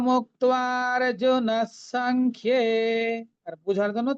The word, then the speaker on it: সংখ্যে: Song খিয়ে, এ কারটা আছে ক্ষয়ের সাথে, যে অন্তস্থ ইয়টা আছে তার সাথে, সং খিয়ে। সং খেয়ে কিন্তু বলবো না, তাহলে জফলা হয়ে যাবে বা ডাবল খ হয়ে যাবে, সেটা ভুল উচ্চারণ।